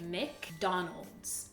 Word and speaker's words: McDonald's: mdonald alors est-ce que est-ce que tu peux dire plus doucement le début mec mec mec mec comme M c'est M McDonald's Donald's McDonald's McDonald's c'est